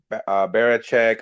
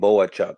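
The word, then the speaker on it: Bohachuk: You got Barachek. I mean, you got so many. Did I say his name? Boachuk. My bad, I got that Oh, wrong.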